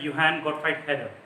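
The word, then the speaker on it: Johann Gottfried Herder: में दिया हुआ है, जोहान गॉटफ्राइड हेडर, ठीक है। उसको जर्मन भाषा में प्रोनाउंसिएट करेंगे तो it will be like योहान गॉटफ्राइड हेडर।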